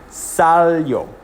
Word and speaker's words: salió: Now, because there's an accent on the O, we're actually accenting the O specifically, not the I-O together. So it's not accenting the yo sound, it's accenting the O sound, different from the I.